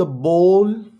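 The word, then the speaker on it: ball: first है जी द बोल अच्छा इसको ना अक्सर बाउल कहते हैं जो गलत मिस प्रोनंसिएशन है इसको हम मिस प्रोनाउंस करते हैं bowl it's अ बॉल द बॉल इज इन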